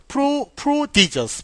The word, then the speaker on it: prodigious: 그냥 발음기 먼저 쓸게요 자 프로디지 어라고 읽고요 강세는 여기 있습니다 프로디지 자 스펠링은 프로디지 자 이렇게 돼요로 prodigious prodigious 자이 단어는 무슨